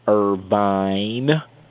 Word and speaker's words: Irvine: I got to say it like that, Irvine.